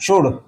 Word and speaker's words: should: बहुत से अंग्रेजी की स्पेलिंग जो है एल देखकर यहां पर शुड बोल देते हैं। नहीं शुड ठीक नहीं है। इसकी उच्चारण क्या होता है?